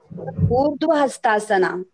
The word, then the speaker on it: Urdhva Hastasana: Urdhva Hastasana.